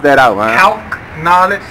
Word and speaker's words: Calcknowledge: Calcknowledge, like short for calculator, means you can count on me.